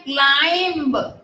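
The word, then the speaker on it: climb: ऐसे टॉम, फिर है क्लाइंब, बी साइलेंट है।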